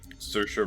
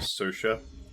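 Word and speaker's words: Saoirse: you ever look at the name uh sersha Ronin that's how she pronounces it sersha it's like spelled like SE Oris or something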